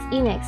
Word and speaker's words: Enix: You pronounce it like square without the Oh, and Phoenix without the F. Uh, Phoenix. Enix.